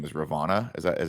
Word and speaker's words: Ravonna: I'm curious as to how, I think her character's name was Ravonna.